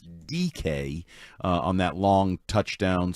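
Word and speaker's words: Dike: It's not spelled DK, it's spelled D I K E, but it's DK.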